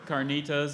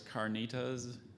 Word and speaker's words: carnitas: There's a slight variant. There's carnitas and there's carnitas. Carnitas.